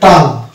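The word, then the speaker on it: tongue: Silent হয়ে যাওয়ার কথা, তাহলে এটা হবে টাং। টাং, এটার উচ্চারণ হলো টাং, কেননা জি আর এম জি পাশাপাশি থাকলে ওই দুটো মিলে হয়ে যায় অনুস্বার বা উয়া উচ্চারণ করতে হয়, এই জন্য এটা হয়ে যায় টাং।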